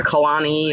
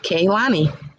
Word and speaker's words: Kaylani: I have some people who call her Kalani, or they don't know how to pronounce. It's just Kaylani.